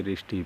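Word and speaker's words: wrist: कहते है रिस्ट रिस्ट यहां पर डब्लू आपका साइलेंट है यानी कि डब्लू को यहां पर आप नहीं अपने मीनिंग्स में उच्चारण नहीं करेंगे इसे रिस्ट पढ़ेंगे यानी कि इस प्रकार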